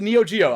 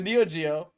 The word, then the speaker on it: Neo Geo: okay that's the 3do no it's the neo geo i was like oh it rhymes with 3do it's the neochia it's the neo3d oh yo joe no it's it's the neo geo that's an oldie that's